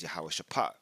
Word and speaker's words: Jehoshaphat: It says to here, "Hos Jehoshaphat, but it actually say this word would be better said as Yahawah Shapat, which is Yahawah's decision."